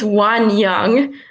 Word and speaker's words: Wanyoung: if I'm pronouncing it it's one young one yeah it's totally okay people pronounce it different ways all right so that's